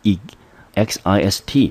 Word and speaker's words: exist: 在 e 发成 e x i s t，我们就念成 exist，中音节落在第二个音节，这个字